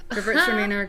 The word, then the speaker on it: Gewürztraminer: So a if you couple liked things about Gewürztraminer. The best way to learn my how to favorite. say it is it rhymes with girls are meaner. Gewürztraminer, girls are meaner.